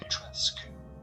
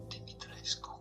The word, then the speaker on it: Dimitrescu: It is not Dresu but rather Dimitresu Dimitrescu whatever Lady D.